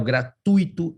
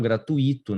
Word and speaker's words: gratuito: ali ó Mister Nobel gratuito e não gratuito né que é um ditongo decrescente Ok e acrobata Só